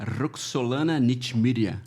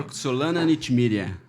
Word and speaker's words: Roxolana Nechmyrya: nós estamos aqui com a nossa ilustríssima convidada, que é a Roxolana Nitmiria. Repita. Qual a nota pra minha Tá pronúncia? certo. Tá certo. Acertou mesmo. Roxolana Nitmiria.